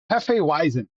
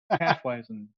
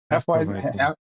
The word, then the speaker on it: Hefeweizen: Halfweizen. Hefeweizen. Hefeweizen? Hefeweizen. Weizen. Weizen. Hefeweizen. Weizen, there's no V, there's a W. Yeah, but that's how it comes Yeah, out. but the W is pronounced as a V.